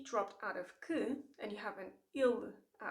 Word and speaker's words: que: The other letter that gets dropped a lot, that vanishes, is the E. So you have K. You have three letters, yet you have the sound K. It's one sound only.